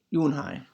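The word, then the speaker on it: Unhei: Kim and then turned to Joey she nodded slowly yes it's pronounced you won't hi it means grace mr.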